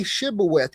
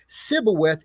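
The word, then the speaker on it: שִׁבֹּלֶת: I don't know if anybody's familiar with it but it's about say shibith and the guy couldn't say it and he says sibwith and get slayed.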